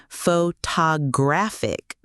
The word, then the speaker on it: photographic: The word photograph, Photograph, but photographer, photographer, and photographic, photographic. Same root word, completely different stress patterns.